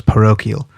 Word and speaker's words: parochial: It's what's known as parochial. And that's spelled P-A-R-O-C-H-I-A-L, parochial.